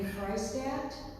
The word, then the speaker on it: Freistadt: My name is Freistadt. My last name rhymes with Hudat.